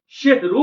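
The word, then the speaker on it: সাহরী: সেহরু বলেছিল অতএব সেহরি শব্দের অর্থ হল জাদু। অতএব আজ থেকে সেহরি শব্দটা উচ্চারণ আমরা করবো না। আমরা সেখানে উচ্চারণ করব সাহারী।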